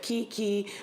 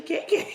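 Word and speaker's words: Keke: And it's so funny because I see that Kiki, and it's actually, it's actually KK. Yeah, really? yeah. And because it's spelled the same way, K-E-K-E.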